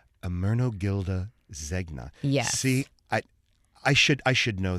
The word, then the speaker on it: Ermenegildo Zegna: and I don't even know if I can pronounce this designer's name. Let me give it a shot. It is Emeragildo? Ermenegildo Zegna. Ermenegildo Zegna.